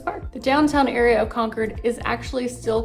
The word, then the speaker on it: Concord: It's Concord, not Concord. I know there's other cities in the United States pronounced Concord, but here it's Concord.